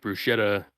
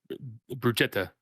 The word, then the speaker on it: bruschetta: me how to make bruschetta it's uh poor guys bruchetta I believe is the proper pronunciation but I'm not Italian